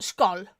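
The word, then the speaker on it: skål: Uh, scowl Danish, Norwegian, Swedish, or uh, skull in Icelandic is a traditional Scandinavian toast meaning cheers to or good health pronounced skull.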